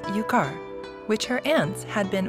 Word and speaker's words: Yukar: Yukie noticed that the Ainu words written in Japanese were different from the actual pronunciation, such as Yukara, which is pronounced Yukar.